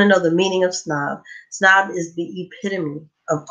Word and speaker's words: PSNOB: Remember the P is silent. And just so everyone knows, if you want to know the meaning of snob, snob is the epitome of art, fashion, and culture.